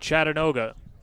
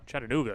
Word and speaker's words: Chattanooga: two outs 52 lead chattanoga Chattanooga excuse me the scenic city I knew what you meant well I'm sure there's a whole contingent down in Tennessee saying he's not pronouncing it right we apologize we know it's Chattanooga Full Count off the